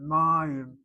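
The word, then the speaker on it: מים: The reason why we don't hit the last syllable is because this patak seems to be properly written on the board, short vowel, open, open, open syllable, and therefore needs the accent. Mayim. If I spell that word with a dagesh in that yud, then it's a closed syllable, and I don't have to accent that first syllable, but I am accenting it.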